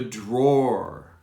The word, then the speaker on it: drawer: see my clothes the drawer it's very difficult you almost don't pronounce the w draw like roar a lion roars look in the drawer i think that's an easier way to pronounce this drawer look in the